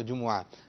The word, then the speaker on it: جمعہ: جمعہ کرتے رہیں گے تو جمعہ بھی نہیں جمعہ، ٹھیک ہے، جیم پر بھی پیش ہے اور میم پر بھی پیش ہے تو جمعہ۔ تو الحمدللہ ان قریب